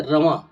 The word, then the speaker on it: رواں: آواز کیسے ہوتی ہے۔ رواں، بہت سے بچے رما بولتے ہیں، ان کا تلفظ صحیح کرائیں، رواں۔ اس کو پڑھتے ہیں،